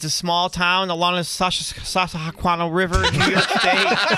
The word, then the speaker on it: Susquehanna: Just want to let you know it's pronounced Susquehanna.